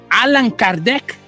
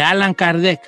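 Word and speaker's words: Allan Kardec: él se cambió de nombre y se pone alan kardec así firmaba sus libros alan kardec alan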